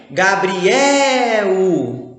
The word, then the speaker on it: Gabriel: Gabriel. Opa, Gabriel também é uma paroxítona. Afinal, a tonicidade dele está na penúltima sílaba.